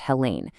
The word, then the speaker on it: Helen: A fantastic person to connect with is Helen Matthews, and her first name is pronounced Hela.